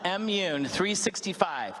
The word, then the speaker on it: M-Mun365: So it's pronounced M-Mun365.